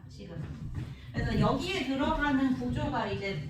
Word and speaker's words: 시그마: 요걸 가지고 이제 수열의 합을 나타내는 건데 시그마라고 읽어주시면 됩니다. 시그마.